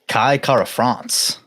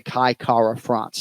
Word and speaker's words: Kara-France: day of the week Kai says his last name with that ruled R I've never heard him say Kai Kara France now we're in the business of getting the right syllable right but those who choose to roll the r can or those who are